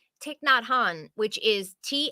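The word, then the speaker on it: Thich Nhat Hanh: it's been a it's been a bit um tick not Han tick not Han which is th h i c because it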